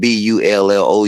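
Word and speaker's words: Bullough: It's spelled B U L L O U G H, but you got to say it like that old drunk pastor. B U L L O W. Bullo.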